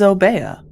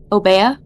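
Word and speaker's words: Obeah: as I'm activating obeda obia I don't know how how to say it but it is obeya obeya damn I am yep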